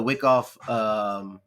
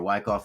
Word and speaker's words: Wyckoff: So what the Wyckoff accumulation phase, or Wyckoff accumulation phase, whichever way you want to pronounce it, depending on where you live in the world.